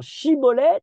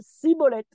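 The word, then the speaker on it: Shibboleth: On a dans le livre de Shoftim, déjà là-bas, la distinction des Bnei Ephraïm qui ne peuvent pas prononcer justement Shibolet et qui disent Sibolet.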